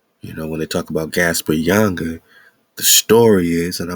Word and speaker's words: Ynga: You put an A, you put an A between the Y and the N, and you got, say it with me, Yanga.